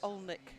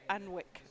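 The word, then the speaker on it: Alnwick: out the L or do you miss out the W when you're pronouncing it and the Monsters both so she was wondering whether it was n Nick or anick she said nope you missed them both out so the vories if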